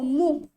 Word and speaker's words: mho: नहीं लिखना है तो हम क्या करेंगे, इसकी स्पेलिंग को उल्टा कर दो, तो ये हो जाएगा MHO, मोह।